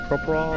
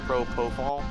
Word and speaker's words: propofol: including intimidate uh propofol is that what is like propriol or something like I forget how to pronounce it propofol yeah that's a very